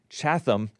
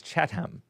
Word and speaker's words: Chatham: I mean, Chatham Chatham, but it's Chattam.